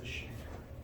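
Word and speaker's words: chancre: true pronunciation is a shanker. Shanker? But nobody says it's canker. Okay. What is? It's a shanker.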